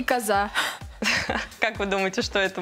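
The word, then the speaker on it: kaza: И а произносится как коза.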